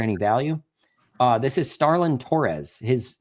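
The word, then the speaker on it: Stharlin: Uh this is Starland Torres. His name, I'm going to spell it for you because there is a surprise consonant in there.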